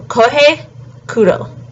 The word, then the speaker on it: Kohei Kudo: So Kohei Kudo. Next is Ryo Aono. So his last name is A-O-N-O, and you pronounce all the vowels, so it's Ao.